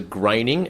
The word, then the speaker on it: Groening: cool is that hmm now he pronounces a graining as any complaining he says it was